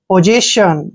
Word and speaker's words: possession: देखिए क्या पढ़ना है, जब भी S से पहले O आता है और S के बाद E आता है तो S का उच्चारण ज करते हैं, और E को A की मात्रा पढ़ेंगे, पोजे, क्या हो गया, पोजे।